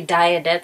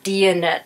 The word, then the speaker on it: Diyanet: because I've been calling it the dianet center and N that's not what it's called it's called the deonette center okay like diet diet I swear I was